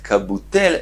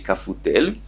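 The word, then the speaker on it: קבוטל: En vez de leerlo con bet Kabutel, él lo leía con la fe, Kafutel. Umachvelei Rav beyadei Kabutel. Y Rav con la mano lo corrigió mostrándole que no se dice con Pei, sino con Bet.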